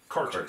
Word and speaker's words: Cairdeas: pointed out or he gave us the correct pronunciation yeah if I remember right he was saying caras c yeah C it sounded like C Chase